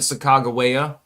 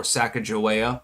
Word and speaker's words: Sacagawea: Then you had the Sacagawea, or Sacagawea, whichever way you want to pronounce it, dollar.